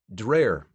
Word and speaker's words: Dreer: made sure George knew how to pronounce his name Dreer like prayer near the end of